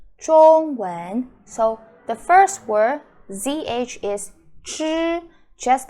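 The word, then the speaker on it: 知: all right it's pronounced okay with the zhi I doesn't do anything you can forget about how to pronounce the I sound your lips looks like this and then you could curl your tongue so okay first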